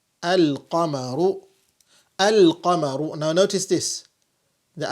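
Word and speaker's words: القمر: is that moon letters, when you provide alif and lam at the beginning, the lam is pronounced.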